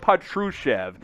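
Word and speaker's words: Petrušev: as you've gotten philip patrushev there is a chev phillip a true chevy no no no chevy no truck on this one phillip patruchev that's how you pronounce uh his name so uh a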